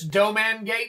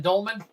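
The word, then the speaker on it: Dolmen Gate: So the L is silent. So it's doman gate rather than dolman.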